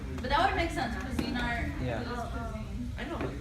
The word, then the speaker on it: Cuisinart: Cuisinart. What, Rishi? Did our account give it to you? Yeah, I think that's how you pronounce it. I think it's Cuisinart.